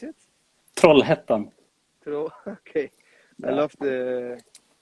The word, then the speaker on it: Trollhättan: How do you pronounce it? Trollhättan.